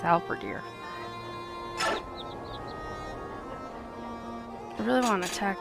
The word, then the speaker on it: halberdier: she said level two albediere how birdier other deer never sure how to pronounce that one helvedeer halberdier okay it's alpha deer i really want to